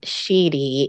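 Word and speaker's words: sidhe: What I pronounce as sheedy is spelled S-I-D-H-E, and sheed is S-I-D.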